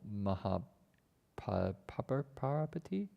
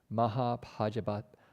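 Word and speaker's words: Mahāpajāpatī: He requests on their behalf, and the first Bhikshuni's name, I believe, was Venerable Mahaparapati. As defined, first nun. I forgot the actual way to say her name. Mahapajapati. Pajapati. That's right.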